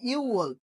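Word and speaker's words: 유월: নাম্বারে কি ইউ ওয়াল অর্থাৎ আমরা যে ছয়টা শিখছিলাম ইউক সেখান থেকে গ টা কি এখানে আর উচ্চারিত হচ্ছে না এজন্য কি ইউল পরবর্তীতে সিরাল ফারু আশা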